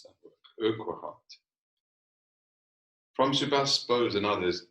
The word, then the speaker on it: Urquhart: How do you pronounce that word? Urquhart.